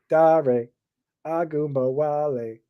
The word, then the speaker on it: Ogunbowale: Yes, I always remember how to say it because on the morning show with Simon and JL, we used to sing Dare Ogunbowale.